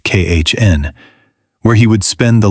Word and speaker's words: Caen: Eventually, he had to be admitted to a hospital in Caen, pronounced Khn, where he would spend the last years of his life.